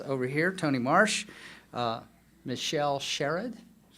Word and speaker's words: Sherrod: Michelle Sherrod, who I insist on pronouncing as Sherrard, but people keep correcting me.